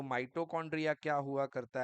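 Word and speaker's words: mitochondria: दी इसको सही कर लीजिए इट इज़ नॉट माइट्रोकांड्रिया इट इज़ माइटोकांड्रिया okay so spelling is एम आई टी ओ सी CH ओ एन डी आर आई ए ठीक है ना? So this is called माइटोकांड्रिया।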